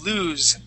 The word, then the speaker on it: lose: lose there you go lose with the voiced s lose lose okay there you